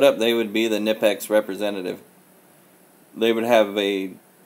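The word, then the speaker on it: Knipex: stream the pronunciation debate is that it's over you don't have you can't have a kinetics knife you have to have a nip ex knife if nip ex made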